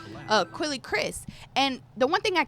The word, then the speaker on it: Quelle Chris: hard for, you know, how do you pronounce his name? Quelle Chris. Quelle, I want to call him Quelle. Quelle Chris.